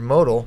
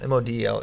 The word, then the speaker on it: Model: And like a Weiland over Model, or Modal, probably Model, M-O-D-E-L is pronounced Model, doesn't mean anything in the NCAA tournament because those are guys that are not.